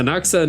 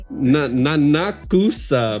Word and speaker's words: Nanakusa: Nanaxa Nazuna. Nanaxa. Kusa. Nanakusa, but the U is silent.